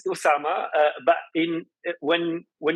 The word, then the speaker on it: Oussama: right Indonesia we do we do and it's pronounced the same it's Usama uh but in when when you write in